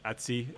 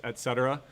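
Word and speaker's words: /etc: a directory called Etc we call it Etsy in uh whenever you're in a Unix you know you would usually pronounce this Etc right but uh in the Unix world we call this Etsy all right don't ask me why and then under that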